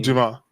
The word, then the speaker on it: Dumas: Duma uh uh am I pronouncing your your last name? Duma. Duma. H that's a French name.